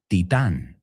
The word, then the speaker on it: titán: You say titán. Bueno, piensa Titanic. Bueno, ¿cómo se dice? Porque no se dice Titanic en inglés.